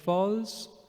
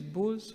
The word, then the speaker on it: bulls: explains that protection of balls the pronunciation is Bulls balls balls Bulls okay Bulls bus okay I'll